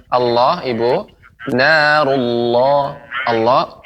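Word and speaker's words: الله: Allah, lafaz Allah ini tebal.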